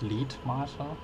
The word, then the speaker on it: Letmathe: Oder heißt es Letmathe? Ja, das ist ja das Interessante, dass E in Kombination mit dem TH suggeriert, dass es lang ausgesprochen wird, also Let. Genau das gleiche in Mathe. So, das.